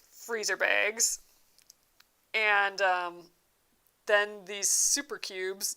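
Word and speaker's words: Souper Cubes: But they're called super cubes, like super cubes. But soup is spelled like, SOUP. So super cubes.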